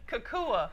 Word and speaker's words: Kukua: Tell everybody how you got the, I don't want to pronounce it wrong. the Kukua Institute. Yes, say it again. Kukua.